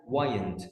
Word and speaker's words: wind: او ينفخ، لا هي وايند بمعنى يلف الزنبرك، بمعنى يشحن الطاقه الحركيه عن طريق الدوران. تمام كده. فهنا الزنبرك بتاعي بتشحن. كلمه وايند WIND مش ويند بقى، لها نطق تاني.